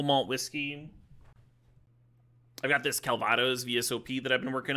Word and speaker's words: Calvados: You're supposed to pronounce the S in Calvados, didn't I?